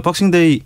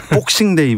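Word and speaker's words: Boxing Day: 상황이 됐네요 프리미어리그는 어떻습니까 박싱데이 박싱 이 아니고 영국식 이니까 복싱 이라고 해야 되는 요 아깝 제금 게 그렇게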